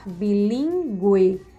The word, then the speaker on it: bilíngue: Vocês podem observar aí que esse U, quando nós falamos aguentar, bilíngue, linguiça, são pronunciados. Então, era usado esse sinalzinho em cima, que é o sinal de trema, para indicar que realmente essa vogalzinha aí, ela era pronunciada, certo?